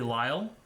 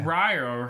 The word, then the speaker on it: Lyle: So the pronunciation when he says Ryle, he can't pronounce his L's quite on point. His name's actually Lyle. That makes sense. But to the average American ear, it sounds like Ryle.